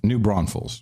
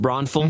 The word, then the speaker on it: New Braunfels: New Braunfels. Oh, is it pronounced Braunfels?